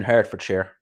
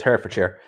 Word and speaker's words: Hertfordshire: of way no problem i know watford's in herd for chair is that how you pronounce it yeah it is hertfordshire i know um bournemouth is in the south